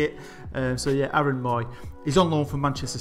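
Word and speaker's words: Mooy: So yeah, Aaron Moy.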